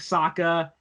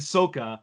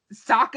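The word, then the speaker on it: Sokka: that like that and the pronunciations of aang saka and they call him ong and soka like oh and um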